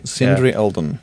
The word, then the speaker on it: Sindri Eldon: to the podcast uh I had to make the quick decision about whether to pronounce my name in Icelandic or uh American all right cindry yeah cindry cindry Elden oh okay like Harry Seldon but different yes yes Harry Seldon